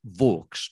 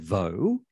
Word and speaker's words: Vaux: England of his time, it was pronounced Vaux to rhyme with hawks. So he might have said Vaux. I mean, that's a possibility. He might have used the French pronunciation and said Vaux.